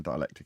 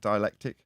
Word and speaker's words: dielectric: way the the dialect how do you say that word is it dialectic big alien dialectic I can never quite say that right anyway dielectric like diamonds and I